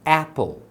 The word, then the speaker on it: apple: Como que eu sei que aqui é apple e não é apple? Você não separou a sílaba? Então, essa sílaba aqui, ó, ela não termina em consoante? Quando termina em consoante, qual que é o som? É o som curto. Então, como a primeira sílaba termina em consoante, você vai pronunciar o som curto. Então, é apple.